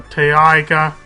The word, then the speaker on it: taiga: You can see you start between a taiga biome, or taiga. People don't like how I pronounce taiga, but it's T-A-I-G-A biome, and a swamp biome.